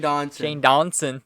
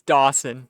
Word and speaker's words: Dawson: D dos Dawson Shane Donson Shane Donson Shane Donson Shane Dawson is that how you say it Dawson it's Dawson Dawson okay so Shane Dawson